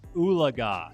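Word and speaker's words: Oologah: here and we're going to be looking at uliga so that's uh that's how you pronounce that this actually be very good for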